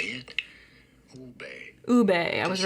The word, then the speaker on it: Ube: Ube.